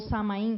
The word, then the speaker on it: Samhain: Que durante os 3 dias de Samhain, ou Samain, como se fala, né, na Gália e